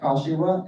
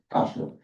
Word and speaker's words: Kashiwa: My name is Jeff Kashiwa, and the last name rhymes with Joshua, sort of, Kashiwa, but you can call me Jeff.